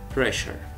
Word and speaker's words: pressure: pressure sure pressure. وفي دفع هواء في نطق صوت ال P فاقول pressure.